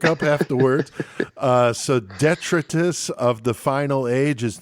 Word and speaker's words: Detritus: I say Detritus. Detritus. That's how I pronounce it in the song, at least.